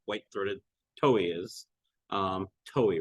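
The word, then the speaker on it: towhee: Mexico that this white throated toe is um toey right that's how it's pronounced they ever asked me about not pronouncing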